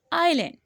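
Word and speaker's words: island: बोलते हैं हिल से आगे हम जाएंगे इस आयरलैंड इसको आइसलैंड पढेंगे मुस्लिम स्टूडेंट्स को आईएस आईएस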